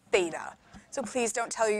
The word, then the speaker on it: Theta: and go to university thinking it was feta like the cheese it's not it's Theta so please don't tell